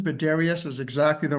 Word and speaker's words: Darius: It's Darius. You're one of the people that got it right on the first time. Yeah. Yeah. Let's go. I get many different pronunciations, but Darius is exactly the right one.